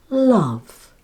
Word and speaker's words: love: Love.